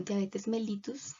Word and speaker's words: diabetes mellitus: Bueno, diabetes mellitus, como realmente se debería pronunciar.